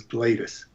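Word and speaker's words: Gladys: attracted this girlfriend gladus her name was sort of spelled like glattus but it was gladus and he was living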